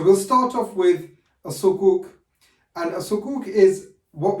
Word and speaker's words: sukuk: The first is sukuk, and I pronounced it sukuk in the other video, I don't know why, but it's sukuk.